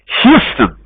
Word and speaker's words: Houston: I was born in Chicago, which is a big lie, but I grew up in, what's the pronunciation of this? The biggest city in Texas. Houston.